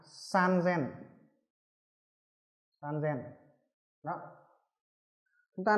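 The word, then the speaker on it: さんぜん: 8000, chúng ta cần phải chú ý đó là 3000 nó đọc là san zen.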